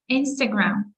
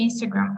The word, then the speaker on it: Instagram: Ну, тобто, ми вимовляємо назву соцмереж, наголошуючи перший склад. So we say Instagram, Facebook, TikTok, YouTube, content, laptop, internet.